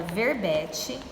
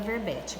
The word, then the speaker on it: verbete: Então, ó, verbete, a separação silábica seria ver-be-te. Ó, a sílaba forte já está em negrito, que é o bé.